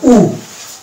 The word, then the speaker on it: who: আমরা যদি WH word পাই তাহলে আমরা H টাকে সাইলেন্ট করে দেবো, ব্রিটিশ ইংলিশের ক্ষেত্রে দিয়ে উচ্চারণ করব, তাহলে আমরা পেয়ে যাব। তাহলে WHAT এই শব্দটা হচ্ছে ওয়াট, ব্রিটিশ ইংলিশের ক্ষেত্রে এটা হবে ওয়াট, এখানে